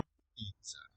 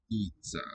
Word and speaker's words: πίτσα: Pizza, long first syllable.